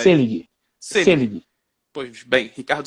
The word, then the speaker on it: Seelig: Selig ou Selig? Nunca sei a pronúncia, porque são dois L's. Selig.